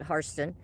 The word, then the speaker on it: Hairston: Yes, it says Hairston, but they pronounce it Harston.